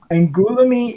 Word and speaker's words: Angoulême: Now I'm going to slaughter this because I don't know French very well, but Angoulême International Comics Festival, I believe is how you say it, but I could be completely wrong there.